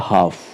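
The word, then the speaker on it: half: next example है हाफ देखिए भले यहां पर जो एल है वह आ रहा है एफ से पहले है तो इसलिए साइलेंट है एफ से पहले एल है तो वह साइलेंट है हाफ हम एल को प्रोनाउंस नहीं करेंगे और हाफ का अर्थ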